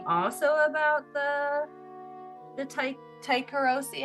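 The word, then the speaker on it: Tycheros: Um, so I actually was thinking also about the the ta taikarosi, how do you say that, Josh? Tyrosi. Tyrosi.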